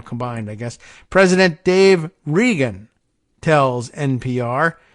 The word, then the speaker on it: Regan: President Dave Regan tells NPR, I assume he pronounces it Regan as R-E-G-A-N. That's the way Don Regan used to do it.